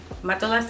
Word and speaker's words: Matelassé: small in mato lasse that is the easiest way that i can say it in my american accent i don't speak french so mata lasse is how i pronounce it which basically means